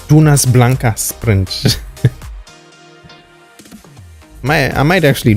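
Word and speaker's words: Dunas Blancas: number three which was Jonas Blancas or should I say it properly Tunas Blanca Sprint my I might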